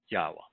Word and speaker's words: Yahweh: The Y is pronounced exactly as it is in virtually every language except some of the Slavic languages where they render it as a J.